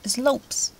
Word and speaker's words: slopes: You don't pronounce the E. Actually, you pronounce the S-L-O-P-S, slopes, okay?